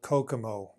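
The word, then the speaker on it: COCOMO: A while ago, Barry Boehm created a tool called Kokomo. Yeah, it's pronounced like the Beach Boys song, but it is unfortunately not a Caribbean island where you can go to get away from it all.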